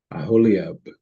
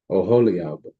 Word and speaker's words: Oholiab: And I, behold, I have given with him Aholiab, maybe, no, Oholiab, okay, the son of Achisamach, Achisamach of the tribe of Dawn, is pronounced Dawn, not Dan, it's pronounced Dawn.